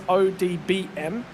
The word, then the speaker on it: ODBM: Make sure you're very careful how you say it. It's ODBM. Don't say stable afterwards. That will annoy several individuals from the team to no end.